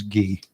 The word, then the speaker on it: Guy: have asked him if his name was really key or Guy because I guarantee you it was Gee. They just they just dumped the French pronunciation.